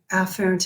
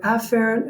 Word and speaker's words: afferent: I don't blame you, because it is also very correct to pronounce it afferent and efferent. It's just that when I'm lecturing, the word afferent and the word efferent really sound a lot alike.